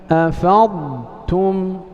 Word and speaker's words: أفضتم: Nah, الموضع الثاني إذا قرأت قوله عز وجل أفضتم فاحذر من إضغام الضاد في التاء.